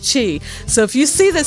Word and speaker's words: Qi: It's really a Q and an I, but it's pronounced Qi. Or it's Cha, but here in America, it's easier for us to pronounce the I as an E. Okay, so it's pronounced Qi.